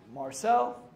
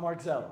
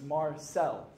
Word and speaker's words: Marczell: At Marcel is my Instagram, M-A-R-C-Z-E-L-L, pronounced Marcel, not Marcel, so it's Marcel. If you say my name Marcel, you're not getting it.